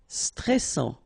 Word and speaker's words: stressant: Stressant. Final T not pronounced. A-N together. En. And then double S. Sans. And it will open the pronunciation of your E. So, E. Stressant. Stressant.